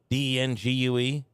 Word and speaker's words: dengue: So malaria, West Nile virus, the Jamestown, whatever, I've never even heard of this one before, the dengue, D-E-N-G-U-E, dengue. I think that's how you say it.